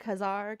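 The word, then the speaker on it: Ka-Zar: Etc and then even what how do you pronounce his name the Marvel guy Kazar Kazar Kazar Kazar I even like that little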